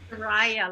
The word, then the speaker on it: Karaya: Karaya, like papaya.